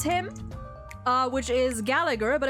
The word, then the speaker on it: Gallagher: him uh which is Gallagher but apparently the second G there is silent I have heard